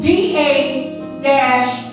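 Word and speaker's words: דרש: The word seek is pronounced D-A-rash.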